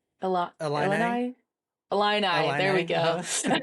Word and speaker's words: Illini: I think it's the Illini. Illini Illini there we go.